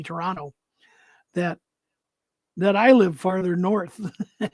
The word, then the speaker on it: Toronto: There's no second T, Toronto.